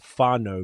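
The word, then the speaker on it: whānau: it means family is faro but it's w h a n a u but it's pronounced f I know because I grew up with so many kiwis.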